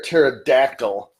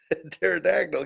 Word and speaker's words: pterodactyl: can't you hear a pterodactyl go to the bathroom where are we because the P is silent pterodactyl get it PT arctor